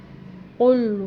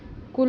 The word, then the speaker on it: قل: باتیں بتا دیتی ہوں۔ کل نہیں پڑھنا، اسے قل پڑھنا، قل هو اللہ احد۔